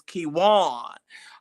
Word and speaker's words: Kiwan: Okay, how we say his name is Kiwan. All right, Kiwan.